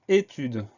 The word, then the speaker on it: étude: On pense à mettre l'accent sur le E au début du mot pour avoir le son E.